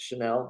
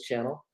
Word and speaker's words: Channell: It's Channel, just like TV. Okay. Some people are really fancy about their names sometimes. You never know nowadays. True. Most people actually pronounce it Chanel, but it is Channel.